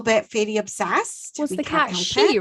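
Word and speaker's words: Cat Sìth: that is the issue so it's called a cat she there it it exists in scotland and ireland okay it's specific to the folklore of scotland and ireland and it's written pronounced i think slightly differently depending on what country you come from but this is specifically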